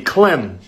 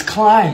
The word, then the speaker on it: climb: And when we add a C, it's it'd be clim. No, it's climb.